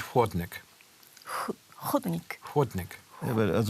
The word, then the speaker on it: chłodnik: sometimes I made hodonik instead of huodonik.